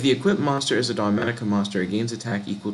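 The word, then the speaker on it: Dogmatika: So now, what I'm gonna do, you said look up Dogmatic, right? Dogmatica. Dogmatica. Okay, my bad. Dogmatica. Oh, it's spelled with a K.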